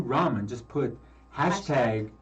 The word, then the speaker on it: ramen: So And don't forget, if you want to win a dinner to Q Ramen, just put hashtag Q Ramen in comments.